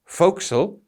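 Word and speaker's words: forecastle: and please note it's spelled for Castle but pronounced fil and this is a raised part on the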